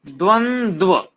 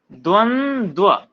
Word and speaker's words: द्वंद्व: द्वंद्व, ध्यान से सुनना मेरे शब्द को, मैं क्या कह रहा हूं, मेरे उच्चारण को। द्वंद्व, देखो दोनों में वाह साफ झलक रहा होगा जब मैं बोलता हूं द्वंद्व, ठीक है।